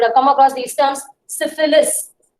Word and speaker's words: syphilis: Syphilis, SYPHILIS. Pronounce it clearly.